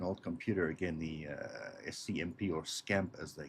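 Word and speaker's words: SC/MP: we go experimenting with the scmp stood for pronounced Scamp it's a national semiconductor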